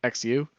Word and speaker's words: Xu: would always ask like oh how do you say your last name and i would just say you know like oh xu like that's how you like you just say like shoe like xu but or i would say shoe but no one would understand